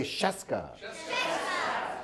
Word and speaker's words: Scieszka: So it rhymes with fresca and starts with SH. So everyone say Scieszka.